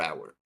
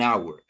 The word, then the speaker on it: hour: going to use an hour or hour. Pause the video so that you can select the right answer. You're going to select an hour. Why an hour? Because here the H is silent.